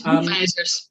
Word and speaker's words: Hoefeijzers: Judith Jansen and Hovijzer. Hopefully I've pronounced your name right. Forgive me if I haven't. It's Hovijzers or horseshoes.